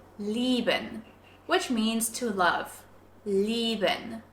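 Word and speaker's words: lieben: which means to love leben with a long stretched e sound leben now if we put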